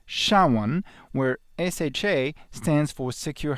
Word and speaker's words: SHA-1: a hash function named sha1 pronounced xiaowan where sha stands for